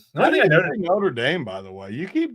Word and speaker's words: Notre Dame: Well, because when I say Nutterame, people That's what it sounds like.